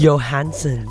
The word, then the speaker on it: Johansson: And this film also stars Scarlett, how do you pronounce that word? Johansson.